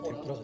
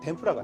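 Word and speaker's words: 天ぷら: 요리인데 그 튀김 요리가 포르투갈어로는 튀김을 템포라라고 했거든요. 템포라. 그래서 템프라가 됐구나. 예, 일본 사람이 템포라 발음이 안 되니까 템프라해서 지금의 튀김 요리가 템푸라가 된 거죠.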